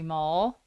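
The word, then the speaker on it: Moehl: And then also another fan fave is Jenny Jurek and Chrissy Mull. Chrissy Mayo is somebody. I only say it like that because male, like mailman.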